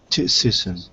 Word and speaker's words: criticism: sism at the end sism cism not kism sism sism slow down go slow go backwards first sism go back good tism criticism criticism criticism perfect now the whole thing fast criticism perfect first second or third criticism four syllables first second third or fourth the first one correct critical first one